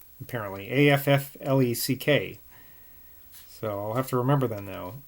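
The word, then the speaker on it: Auchinleck: this scottish i guess it's pronounced affleck so like ben affleck apparently a-f-f-l-e-c-k so i'll have to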